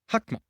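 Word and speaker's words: חכמה: The second one is Hakma. Looks like Chakma, but they pronounce it Hakma.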